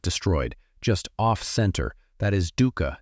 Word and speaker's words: dukkha: The Pali word is dukkha, pronounced dukkha, and it was not a religious word.